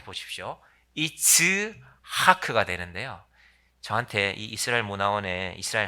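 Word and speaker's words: יצחק: 낳 아들을 이름하여 이삭이라 하였고 자 이삭을 히브리말로 발음하면 제 입을 잘 보십시오 이츠하크 되는데요 저한 이스라 화원 이스라 할머니가 창기를려 때요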